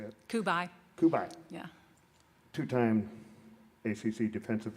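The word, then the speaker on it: Cubaj: Kubai, Kubai, yeah.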